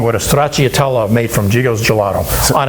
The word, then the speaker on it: stracciatella: And I'm going to give you back your oh, I'm going to pronounce it wrong. How do you say stracciatella? Stracciatella.